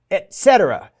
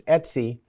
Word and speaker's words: etc: So uh if you're from the Windows world, you might be tempted to pronounce that as etc. But that's not what it actually is. It's Etsy.